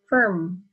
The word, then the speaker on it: firm: have R here and the letter before R is I so when you say it it goes like this firm okay it has the u sound in it and lastly popular so